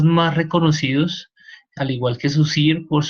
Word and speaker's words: Saussure: Y recuerden, he estado mirando algunos videos y Saussure es un nombre francés. Entonces es Saussure. ¿Ok? La pronunciación del nombre.